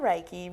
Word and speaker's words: Reiki: what about raiki is am I pronouncing it right yeah it's called raiki raiki means Universal energy means